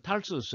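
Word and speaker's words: Tarsus: 영어로는 탈수스 이렇게 읽죠. 다소 발음이 달라졌네요.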